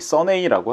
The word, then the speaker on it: SUNNEI: 선에 요게 써니라는 영어 단어를 이탈리아식 발음이나 철자로 장난친 것이라고 합니다. 이들이 얘기하기를 우리가 상상한 이탈리아 있는 영어 써니를 쓰면 이렇게 되지 않을까? 어라는 그런 생각에서 시작된게 바로이 선네이라고 하고요.